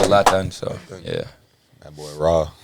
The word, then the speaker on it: Lathan: But that's how they say my name in French. They don't say Lathan, they say Lathan.